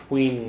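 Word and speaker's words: faoi: And under the sun, fween green. Okay, so fwee means under, fween means under the and that sticks guru on the sun.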